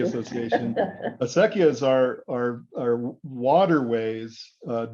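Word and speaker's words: acequia: this uh a sec yeah that's how you pronounce that word uh aseki Association asekia is our our waterways uh ditches that were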